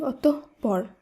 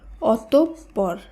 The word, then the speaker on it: অতঃপর: অ ত বিসর্গ পর বেশিরভাগ ক্ষেত্রে আমরা শব্দটিকে উচ্চারণ করে থাকি অতঃপর এটি কিন্তু সঠিক উচ্চারণ নয় এর সঠিক উচ্চারণ হবে অতঃপর কারণ উচ্চারণের নিয়ম অনুসারে বিসর্গ যুক্ত শব্দের মধ্যে বিসর্গের পরে যে বর্ণটি থাকবে সেই বর্ণটির দীপ্ত উচ্চারণ হবে তাই